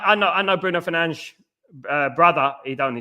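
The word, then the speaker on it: Fernandes: Um mate, Bruno Fernandez surname is pronounc Fern. Yeah. Yet no one only cares. Only we complain Y. Yeah. Bruno Fernanch.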